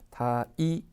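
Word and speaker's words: 退治: 타이지 이렇게 읽습니다. 타이지. 그다음 보면 이제 우리가 완치 같은 경우에는 칸지라고 읽거든요.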